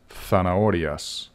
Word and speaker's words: zanahorias: Las zanahorias. Las zanahorias. The Z sounds like a S, except in Spain, where it's pronounced zanahorias.